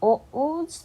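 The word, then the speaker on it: お: Next, O's pronunciation is similar to the first sound in O, like I owe you.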